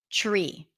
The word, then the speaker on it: tree: it's something that is the reason why that happens is because the tree wants to get the the tree the te wants to get closer to the R so instead of pronouncing it up here TTT you pull the tongue in a little bit and you pronounce it further back and and then it becomes more of a sound tree tree tree trust train country